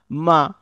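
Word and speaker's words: مَ: আপনারা একটু দুই ঠোঁট যুক্ত করে বলুন, মা, মা, মা।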